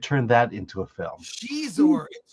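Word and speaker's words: Xizor: that into a film Shor sh Shor yes we uh Chinese pronounce X is differently um let me see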